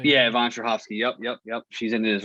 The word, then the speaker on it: Yvonne Strahovski: Simmons, Betty Gilpin, Yvonne Strahovski. Is that how you say it? Yeah, Yvonne Strahovski.